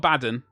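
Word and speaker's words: Abaddon: Quickly, first of all, I got I got Abaden.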